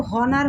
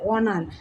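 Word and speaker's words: honour: এর উচ্চারণ এটা কিন্তু হনার হচ্ছে না অনার অনার ভাওলের অ ধ্বনি আসতেছে এজন্য এখানে কি হবে এন এইচ এর উচ্চারণ সাইলেন্ট থাকছে প্যাসিফিক ওশান মানে প্রশান্ত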